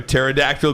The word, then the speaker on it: pterodactyl: Why can't you hear a pterodactyl going to the bathroom? That's Why? the P is silent.